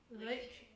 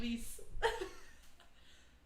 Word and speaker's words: Lecce: Lecce. Lecce. Wow. I was calling it Lice.